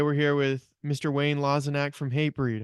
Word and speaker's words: Lozinak: date uh today we're here with Mr Wayne laak from hate breed how are you today sir yes I'm doing good and you pronounced my name correctly I like that I